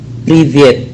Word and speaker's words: Привет: Nah, dalam tulisan Привет itu terdapat kata Y, atau ditulisannya itu ye, ya, y itu y, ya, y. Maka dalam ucapan Rusianya menjadi privet, ya, ada y, privet, karena e itu y,